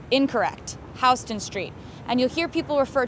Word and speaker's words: Houston Street: see the sign you'll think Oh Houston Texas Houston Street incorrect Houston Street and you'll hear people refer to NoHo or